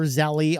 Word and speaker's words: Zelle: Of course, Zelle is Zelle or Zelly. I'll probably use both of those pronunciations interchangeably, whichever one it is. I think it's Zelle, I think.